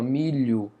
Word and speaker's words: milho: aí um dígrafo consonantal, milho também, ó, milho. Não, não falamos esse som do H, só é do L. meio que como se fosse uma marca de nasalização, ó, milho.